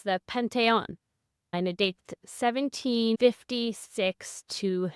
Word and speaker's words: Panthéon: on that or it's The Penton and a dates 1756 to 97 it's the same name but you just pronounce it with a French inflection Pon and this is his take